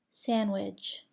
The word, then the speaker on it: sandwich: Do not pronounce the D in the following words: adjective, adjust, handkerchief, handsome, sandwich, Wednesday.